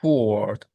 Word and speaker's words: forward: Trunks forward. Forward. Forward. Fo. For. For. For. Word. Word. Forward. Forward. In this word, the A has no sound. Mm. The O and the R's are considered vowels.